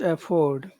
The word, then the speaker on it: afford: Okay, and in that word, which syllable has the accent? Afford. Afford. Ford, Afford. Afford. Ford, Ford, Ford, Ford. Afford.